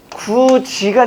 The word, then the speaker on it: 굳이: 여러분들 굳이라고 할 때 발음이 어떻게 돼요? 구지가 되는 거죠.